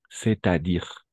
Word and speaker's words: c'est-à-dire: Eh, esto es una sola palabra y vamos a pronunciarla como tal. Si tal vez faltan les traits d'union, acabo de ponerlos. C'est-à-dire, c'est-à-dire, todo de una, d'accord? C'est-à-dire es decir, c'est-à-dire, vamos a hacer la liaison.